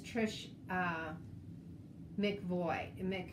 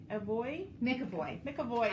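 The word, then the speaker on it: Trish McEvoy: So Lisa uses Trish McVoy. Okay, we're both stumped. No, I'm serious. I have only had a sip of that. McAvoy.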